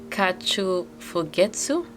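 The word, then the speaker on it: 花鳥風月: Um, so this one has the pronunciation kachu fugettu composed of the four characters for flower, bird, wind, and moon.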